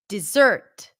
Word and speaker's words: dessert: part of the meal dessert where's the primary stress here dessert stresses on the second syllable now some people might even pronounce the first syllable with a schwat dessert dessert and that